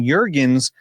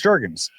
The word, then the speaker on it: Jurgens: Brady has pronounced it Cam Jurgens a couple times now. What's the correct pronunciation? I believe it's Jurgens. Yeah. He even has beef jerky. Yeah. Like his jerky company. Beef. Yeah. Yeah. Beef jerky.